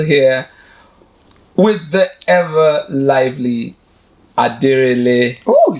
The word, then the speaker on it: Denrele: My name is Jude Thomas Dawam, and I'm still here with the ever lively Denrele.